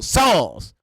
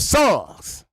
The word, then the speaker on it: Psalms: SO WHAT THE WE NEED THAT P FOR IN THE Bible if we got songs it's spelled up already? So you mean to tell me I mean P S A L M S is the same thing as S O N G S songs and people